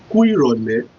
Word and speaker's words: Ku irole: during the evening time, we pronounce it this way. Ku irole. I know people might want to find that side a little bit difficult, but believe me, you can do it. Ku irole. Ku irole. Simply the pronunciation and the spelling is this: Ku I how O L E. So to pronounce it, Ku irole simply means good evening.